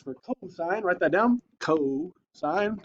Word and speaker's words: cosine: Cosine, C-O-S. Cos is not how you say it. It's cosine.